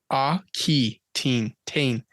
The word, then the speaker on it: Aquitaine: Do you want to take a stab at how you say that word? Aquitaine? Yeah, see, I want to say aqua too. It's Aquitaine. Aquitaine.